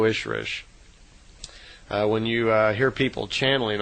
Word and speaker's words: Ishrish: And a female Ishwish is called an Ishrish, I-S-H-R-I-S-H. So in effect, Semjase is an Elo Ishrish, is how they would pronounce it in her language.